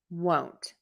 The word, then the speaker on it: won't: Whereas won't, think about it with a longer O, won't.